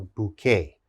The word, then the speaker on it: bouquet: okay that's called a bouquet bouquet this has a k sound bouquet the next word cabaret